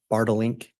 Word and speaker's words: Bartelink: And am I saying that correctly? It's Bartelink? You pronounced it perfectly.